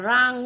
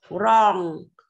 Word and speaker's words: wrong: Từ này không đọc là rang nhé con nhé. Từ này nó là âm o ngắn mà con. Wrong, wrong, wrong.